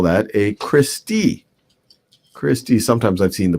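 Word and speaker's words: cristae: one of them you would call that a christie christie sometimes i've seen the pronunciation of this is christai christai or christie that's plural for crista and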